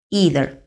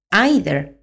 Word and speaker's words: either: comenzamos ya desgranando despacito cuando usar needer y cuando usar eater Por cierto también se pronuncian nider o aider así que lo podéis escuchar de las dos maneras vamos primero con neither